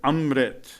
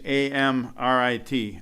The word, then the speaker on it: Amrit: ah sound which means you have to vibrate it up in the nasal conch and these Shepherds work